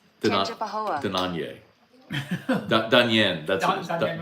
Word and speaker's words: Tangipahoa: and then people like, only people who aren't from Tangipahoa say the A. It's really, it's pronounced Tangipahoa, and I'm like, well.